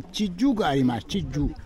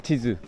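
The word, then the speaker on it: 地図: There is a Chiju. Chiju. Chiju. Map. Chiju. Chizu. Very difficult pronunciation.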